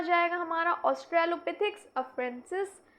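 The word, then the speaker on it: Australopithecus: Often consider direct ancestor of genus होमो, यानी genus होमो का हम डायरेक्ट एंसेस्टर कह सकते हैं ऑस्ट्रेलोपिथिक्स अफारेंसिस, सॉरी। क्लियर? इसका भी प्रोनाउंस कर दूं, कैसे किया जाएगा?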